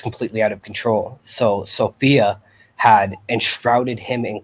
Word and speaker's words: Sophia: humanity is female um her name is sophia or sophia is the proper pronunciation of it um the